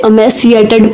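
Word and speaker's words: emaciated: इसे अमेसिएटेड प्रोनाउंस करेंगे और इसका हिंदी अर्थ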